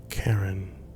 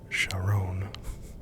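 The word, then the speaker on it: Charon: Sun Pluto's largest moon Karen or chaon depending on your pronunciation charin maybe is half the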